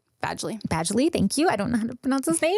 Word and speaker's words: Badgley: yeah yeah um for Jacob I'm thinking pen Bagley Badgley Badgley thank you I don't know how to pronounce his name uh Joseph Gordon levit oh